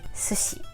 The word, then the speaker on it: sushi: and as you heard we say sushi just don't put stress on because when you put